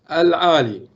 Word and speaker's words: Ahlia: Professor Mansoor, it is pronounced Ahlia, yeah? Aali.